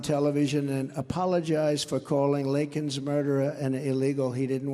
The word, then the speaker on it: Laken: He got Laken's name wrong, calling her Lincoln.